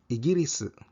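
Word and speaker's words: イギリス: The UK is Igiris, Igiris, which is basically England, and Argentina is Argentin, Argentin.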